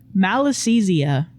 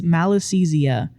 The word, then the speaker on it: Malassezia: the middle of it, the first syllable being mal, meaning evil or bad.